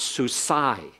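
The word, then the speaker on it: סוּסַי: It becomes a sound that means that sounds like I. It's a long sound. It's literally I-yi, but shortened up becomes I, so it's susai.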